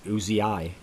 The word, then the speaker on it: Uzi: way for everyone wondering that is how you pronounce Uzi it's supposedly not named after the gun it's just Uzi ey Koo taught me